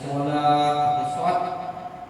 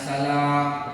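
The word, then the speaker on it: صلاة: Adzan hayya 'alas shalah, hayya 'alas shalah, mari salat. Ini kita baca hayya 'alas salah, isin, mari kita nanggung mansai, berarti ranjang, kita nanggung ke ranjang, berubah.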